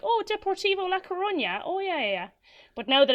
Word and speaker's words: Deportivo La Coruña: Deportivo La Coruña.